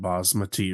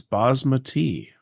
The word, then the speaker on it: basmati: Um, my sister-in-law's friend is from the area where that word comes from and she told us it's bosmati.